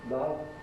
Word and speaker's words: love: When the spelling is O, the sound might be a, or it might be o. It might be a as in love, or o as in lot.